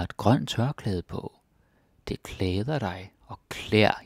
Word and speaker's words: klæder: Det klæder dig. Og klær, usually we pronounce it klær, because we're lazy.